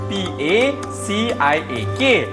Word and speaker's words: Paciak: sebab dia punya ejaan P-A-C-I-A-K. Jadi sebutan yang sebetulnya adalah Cak Lempong Paciak.